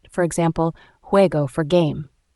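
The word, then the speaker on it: juego: example Ola for hello J is usually pronounced as a strong H sound like the H in hot or hat for example huego for game L is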